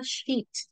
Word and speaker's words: Scheat: Hay otra estrella que le quiero hablar que se llama Sheet. Se escribe Sheat.